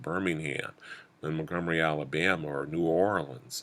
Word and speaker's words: New Orleans: and Montgomery, Alabama, or New Orleans, or or Nolens, for those of you, you know how to say it properly, or Houston or Dallas or Atlanta, of course.